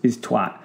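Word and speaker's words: toit: But actually, twat also exists in French. Olivier, if you do an English pronunciation of roof, T-O-I-T, twat, it's a twat.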